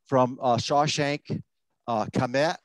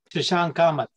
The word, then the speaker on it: Shashank Kamat: From Shawshank Kamet, is that pronounced right? Shashank Kamat. Kamat, thank you.